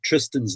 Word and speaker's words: Thriston: Yeah, I'm so proud you would pronounce Tristan's name correctly, because it's spelled Thriston.